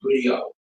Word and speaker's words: griot: The Seattle, GRIOT is griot. So it sounds like griot, but it's griot. So the T is silent.